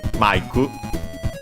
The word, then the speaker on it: マイク: Mike, as we can see in its Japanese name, Maiku. Mike, simply pronounced in Japanese.